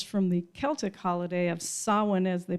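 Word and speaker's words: Samhain: comes of course from the celtic holiday of sowen as they pronounce it which was believed to be a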